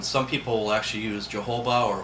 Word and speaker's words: jojoba: But some people will actually use jojoba or jojoba, some people pronounce it, for the face because it's a paraffin-based oil.